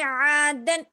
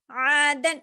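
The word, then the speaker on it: عاداً: ٹھیک ہے، عین الف زبر آ. دال الف 2 زبر دن عادن.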